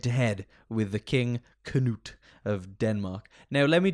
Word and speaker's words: Canute: Is it actually that his name's just King Nut? No, it's Canute.